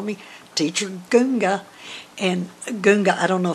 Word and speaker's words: gunga: any more unusual than goonga and we spell it g-u-n-g-a just like it sounds goonga um so i've got